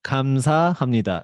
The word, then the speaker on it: 감사합니다: You just memorize 감사, and then 합니다. 감사합니다. It is easy, right?